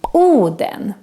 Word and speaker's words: Oden: on to other characters tush papa is the famous odin but in swedish we call him oh then in the marvel movie